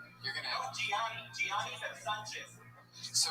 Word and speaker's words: Gianni: Like Gianni Versace, but. Oh, okay, Johnny. You're gonna No, Gianni Versace.